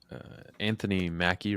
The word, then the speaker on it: Anthony Mackie: I think the potential is there, and Anthony Mackie, right?